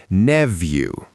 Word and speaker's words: nephew: standard American English is Nephew, nephew, nephew. the PH makes an F sound and the EW at the end sounds like you. Nephew, nephew. Now, in British English, you might also hear neview with a V sound.